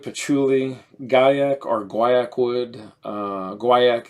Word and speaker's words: guaiac: Guaiac is the traditional North American correct pronunciation, and gaiac is the French pronunciation.